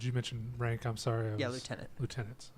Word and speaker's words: lieutenant: mention rank I'm sorry lieutenant okay or leftenant preferred term now that's how we pronounce that I don't know what